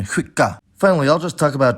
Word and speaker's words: skicka: In addition, the cluster sk is pronounced [ɧ] in the same conditions, like in skicka.